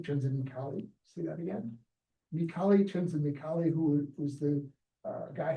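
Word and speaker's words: Mihály: Mihaly Csikszentmihalyi, who was the guy who invented the concept of flow. And you mentioned that as well. So It's Mihai Csikszentmihalyi. no, Mihaly Csikszentmihalyi. Yeah, but can you spell it?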